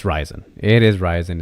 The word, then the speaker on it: Ryzen: official pronunciation for ryzen I hear different people pronounce it differently it's ryzen it is ryzen it's not risen it's not anything else those are really the